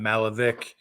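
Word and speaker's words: Malovic: henderson and bailey malavik i'm going to say it right this time malavik he mentioned those two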